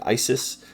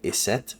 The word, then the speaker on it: Isis: Isis. Uh but possibly in the original Egyptian it could have been iset or asset rather than with the the suffix is or us as the Greeks like to add it to any everything.